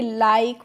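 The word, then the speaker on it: like: एल आई के ई तो इसको हम लिख के नहीं पढ़ेंगे क्या पढ़ेंगे लाइक पढ़ेंगे या लिखे नहीं पढ़ेंगे क्यों नहीं पढ़ेंगे अभी मैंने आपको कम कम में यही रूल बताया था। वही देखिए यहां पे भी आ गया। तो यहां पे हमें इ का प्रोनाउंसिएशन नहीं किया है।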